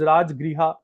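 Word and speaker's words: राजगृह: बेटा राज गृह है वैसे तो यह गाह नहीं है दिस इज राज ग्रहा मैं इसकी स्पेलिंग ठीक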